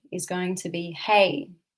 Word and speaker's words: Hei: So the first sound is going to be hey, spelt H-E-I, but pronounced H-A-Y.